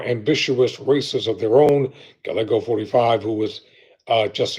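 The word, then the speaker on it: Gallego: I think I mispronounced Reuben's name Galgo. That's the correct pronunciation. Reuben Galgo.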